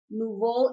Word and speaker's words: nouveau: Nouveau is the correct pronunciation. It's an adjective. It's like a French word.